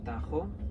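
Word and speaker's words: Tajo: river Tagus we spell it in english t-80us pronounced tegus in english patent spade is ta j openers Tahoe this river is important because it's the longest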